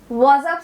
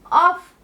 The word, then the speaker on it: of: Was of some assistance. एक और reminder ये है कि F in of actually pronounced होते हैं as v. यदि आप इसे के रूप में प्रोनाउंस करते हैं तो आप of कहेंगे.